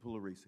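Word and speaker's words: Pugliaresi: for us uh lucian polaris lucian the p is silent yes it really is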